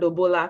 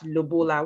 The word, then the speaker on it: lobola: to talk about the i think it's called lobola please correct me if i i'm right or wrong but i i pronounce it as lubola which to me means